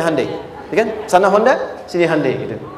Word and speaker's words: Hyundai: bikin Honda sini hundai Hyundai kan dibacanya Handai ya kan sana Honda